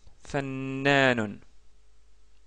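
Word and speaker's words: فنّان: Fanon fannan c'est la lettre noun qui possède un doublement de la chada.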